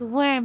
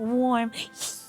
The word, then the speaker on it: worm: It's worm, not warm. I can't say it right.